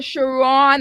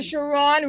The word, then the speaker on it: Sharron: have in studio today Dr shiron or Sharon how do you pronounce it I got it right the first time Dr shiron because I don't